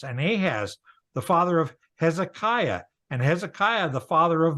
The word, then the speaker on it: Hezekiah: at it all right do you pronounce it hezekia well that that's close it's yeah and you you learn by doing but if you pronounced it hezekia everybody would go okay no problem it's Hezekiah Hezekiah hez H EZ yeah Hezekiah hezekia was